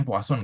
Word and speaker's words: Poisson: ini poason disribution ya bacanya puason guys ya bukan Poison ya puason Oke ini untuk yang